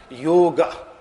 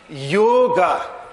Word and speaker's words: yoga: they are speaking Hindi they will be pronouncing it as yoga with a short e at the end now the various meanings